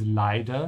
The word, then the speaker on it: leider: Be careful with the pronunciation of T and D. They're quite close in terms of mouth position, yeah? Because leider means unfortunately, yeah? It's very important to say leiter, leiter.